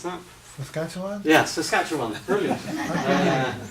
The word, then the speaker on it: Saskatchewan: Dennis, can you pronounce that? Saskatchewan? Yeah, Saskatchewan. Brilliant. Saskatchewan.